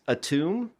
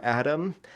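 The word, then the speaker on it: Atum: Uh we had mentioned Gaia earlier and actually um uh she ended up creating a being called a tomb, I guess is how you'd pronounce it, or Adam, uh who ended up destroying most of the other evil elder gods and then flew into the sun.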